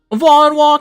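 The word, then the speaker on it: Vonwacq: Vonwalk mansion. Whoa. Vonwalk mansion. Woo. Actually, chat. Huge confirmation. That's how we pronounce it.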